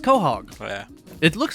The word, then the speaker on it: Quahog: west the mayor of uh quahog quahog it's pronounced quahog yeah it looks like it should be pronounced quahog but yeah it's quahog it's in uh rhode island